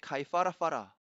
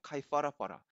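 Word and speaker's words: Kaiwharawhara: 거기는 그게 2번 들어가죠 가입 알아봐라 그것을 틀리게 발음하는 것은 애플을 이용 하러 이용하여 즉 아랫입술 과 윗니 블 이용하여 윗니를 이용하여 발음 하는 것인데 오른 발음은 양 입술을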